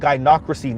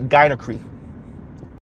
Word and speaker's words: gynocracy: And by the way, pause for the cause, FD is called gynocracy, not gynocry. Or gynocracy, however you were pronouncing it.